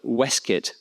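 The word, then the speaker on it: waistcoat: of waste coat since Tolken of course placed the Weskit version in the speech of Gamma of Gaffagami. hardly the kind of gentleman with whom Wild associated it. But this does fit with the Oxford English dictionary's labeling of the Weskit form as found in what it calls representations of vulgar pronunciation.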